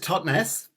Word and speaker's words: Totnes: Phil, you are up, and tell me how you pronounce it. Tell us a little bit about your song. Yeah, it's just Totnes, which is a small town in Devon in the UK.